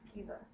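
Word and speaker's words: Caoimhe: This is pronounced Kiva.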